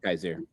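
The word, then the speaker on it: Kyzir: Yes, and I think I mispronounced his is it Kaiser? Is that how you say his first name? Yeah, Kaiser.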